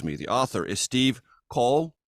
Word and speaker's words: Coll: the author is Steve Cole like doll that's the proper pronunciation of his last name a two-time Pitzer prize